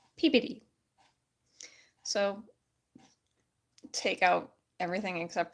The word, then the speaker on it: Peabody: Peabody no when you live in Wisconsin it's pronounced Peabody because it's spelled p-e-a-b-o-d-y I can correct it for we even got to Boston we got corrected in Baltimore it's pronounced pbd so take out everything except for the Y